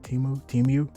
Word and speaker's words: Temu: Temu. Okay, so Temu is how you pronounce this company's name.